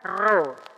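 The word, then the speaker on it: ρω: apa khi bacanya khi kalau P di dalam bahasa Yunani bacanya ro Bacanya apa Ro berarti kalau XP bacanya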